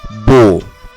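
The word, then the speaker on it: bon: তারপরের শব্দটি হলো বো। বো শব্দের বানানো একটি এন রয়েছে এবং যেহেতু এটি সর্বশেষে এবং এটি একটি কনসোনান্ট, তাই এই এনের উচ্চারণ হচ্ছে না, এর উচ্চারণ হবে বো।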